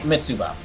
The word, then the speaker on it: Mitsuba: not i'm saying it mitsuba so like like the name tsubaki in my understanding in